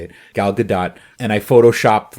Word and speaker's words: Gal Gadot: the movie i have absolutely no problem with gal gadot as wonder woman they made her look good